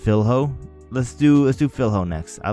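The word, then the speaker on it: Filho: New studies have showed that it is pronounced Philho.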